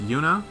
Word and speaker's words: Juna: Juna is pronounced Yuna.